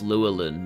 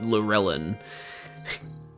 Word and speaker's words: Lurelin: And I now know for a fact that it is pronounced Luan, not Lurelin.